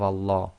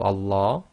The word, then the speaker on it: Allah: If the sound before the name of Allah is either a fatha or a dhamma, then the Lam of Allah is going to be pronounced in a heavy fashion, i.e. tafkhim, or full mouth.